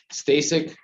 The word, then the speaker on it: Stasik: for the record it's middle initial f stay sick last name is spelled s t a s i k thank